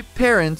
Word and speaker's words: parents: Vou dividir essa palavra em duas partes para que vocês possam aprender a pronúncia dela de forma mais fácil. A primeira parte dessa palavra tem um som muito parecido com a palavra pé em português. Já a segunda parte soa bastante parecida com parents, sendo necessário enrolar